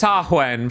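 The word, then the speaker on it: Samhain: beneath the Hedge simhain is pronounced sahuen for the record oh that's not the right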